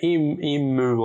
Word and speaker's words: emu: Dude, why do Americans say emu? Yeah, emu, like it's double O. I don't get that. It's emu.